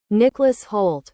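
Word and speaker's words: Nicholas Hoult: The other thing that I wanted to mention, and I don't think I'm pronouncing this right, Nicholas Halt. Nicholas Halt.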